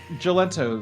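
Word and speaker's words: Jalento: name again live yeah what is oh uh galento is the name galento um yeah uh I'll spell it for you a m i n j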